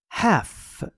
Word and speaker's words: half: هف ال تلفظ نمیشه. هف به نصف شکل یا نیمی از شکل میگن هف. H A L F ال نوشته میشه ولی خونده نمیشه.